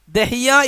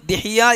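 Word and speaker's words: دحية: ഓർമ്മയില്ല പറയുന്നുണ്ടോ ദിഹിയ്യത്തുൽ കൽബി ദാല് ഹാ യാഹ് താഹ് ദഹിയ എന്നും ദിഹിയ്യ എന്നും പറയാം ദാലിന് കൊണ്ടും കസർ കൊണ്ടും ഉച്ചാരണം ഉണ്ട് രണ്ടും ഹദീസുകളിൽ വന്നിട്ടുണ്ട് അല്ല അപ്പൊ ദിഹിയ്യത്തുൽ കൽബി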